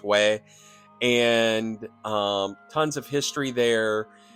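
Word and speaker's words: Huế: I think I pronounced it Hue before, but it's Hue.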